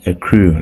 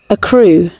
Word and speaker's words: Accrue: to my phone screen it's called a crew agree app right a crew like I don't know however you pronounce it anyway so let me go to Google and ask Google how to pronounce earthquake a crew a crew a crew yeah I hope we had it right a crew okay so